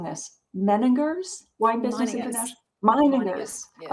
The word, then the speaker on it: Meininger's: So now you were, tell me if I'm mispronouncing this, Meininger's Wine Business International?